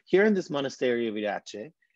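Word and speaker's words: Iratxe: And now in Basque, you will find a lot of the times you find this T and this X, you pronounce it like if it was a CH.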